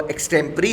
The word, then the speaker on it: extempore: Pronunciation इसकी एक्सटेम्परी होगा। इसका मतलब होता है तैयारी रहित, यानी कोई चीज़ आप तैयारी रहित दे रहे हैं, वो एक्सटेम्परी है।